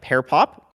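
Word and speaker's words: PearPop: there are websites like pair pop pair pop is not associated with tech talk directly it was actually parapop is spelled um p-e-a-r-p-o-p pair like the fruit and it is a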